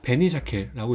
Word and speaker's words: 紅鮭: 그래서 베니샤케라고 있습니다. 그러면 네이티브로 발음으로 2번 따라 읽어주세요.